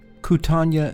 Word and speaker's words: Kootenai: One, let's get the pronunciation right. We're talking about Lake Koocanusa, and the forest here is the Kootenai National Forest.